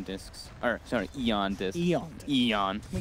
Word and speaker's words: Aeon: Aeon discs. Or, sorry, Eon discs. Eon. Eon. Can we get the pronunciation Radiant's correct?